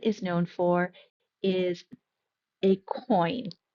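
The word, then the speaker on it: quoin: known for is a coin. I know it looks like it would be some other kind of pronunciation, but that q is the k sound and it is a coin.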